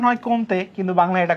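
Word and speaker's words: Comte: উচ্চারণ হয় কমতে। কিন্তু বাংলায় এটা কোত।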